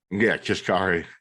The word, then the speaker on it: Kashkari: I saw, how do you say Kaskari? Kashkari.